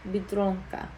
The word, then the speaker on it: Biedronka: If you had a longer word, like Biedronka, it's Biedronka. You're putting the like emphasis on that second syllable because it's the second to last.